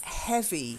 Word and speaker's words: heavy: Then heavy, not heave, he. Like heaven, heavy.